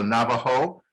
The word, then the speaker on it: Navajo: just so you can hear the pronunciation the navajo i'm gonna i'll highlight it right here the navajo was was one of those and the j is pronounced like a in english h so navajo this one is very difficult it's an it's